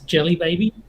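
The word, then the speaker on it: Djelibeybi: gloss over it but when you look at it and try and pronounce it it's jelly baby and and just nice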